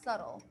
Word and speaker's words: subtle: Subtle. Subtle. Okay, remember the B, we do not pronounce it. Subtle.